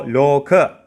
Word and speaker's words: Lokapala: Lokapala Jungle. You need to drag the lo sound, then ka. So Loka. Loka means world and pala means controller.